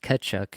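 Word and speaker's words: Tkachuk: the last little bit cchuck sorry I know I've been chastised by the by the online commenters for my pronunciation but um the the t is silent mate yeah the reduction in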